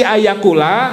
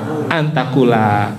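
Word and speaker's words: أنت تقول: Antaula tulisannya ayakula. Nanti kalau melihat teksnya masih ayakula harusnya dibacanya apa? Antaquula.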